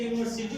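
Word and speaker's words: university: तो देखिए यहाँ पे यूनिवर्सिटी, ये देखिए उच्चारण में य है, यहाँ पे वावेल है, लेकिन यहाँ पे ये कॉन्सोनेंट है उच्चारण में, इसीलिए यहाँ पे ए का प्रयोग होगा।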